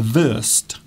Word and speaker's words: Wurst: Yes, because W's in German are pronounced like V's in English.